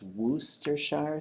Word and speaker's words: Worcestershire: it's probably closer to the number of syllables that seem to be in there but it's Wooster shower songs we had we had to consult the